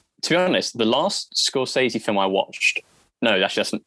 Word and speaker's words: Scorsese: So it's Scorsese.